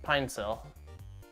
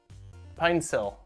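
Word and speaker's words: Pinecil: Pronounced Pinesil. Pinesil.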